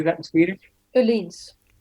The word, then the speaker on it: Öhlins: Öhlins. Öhlins. This is the Swedish pronunciation.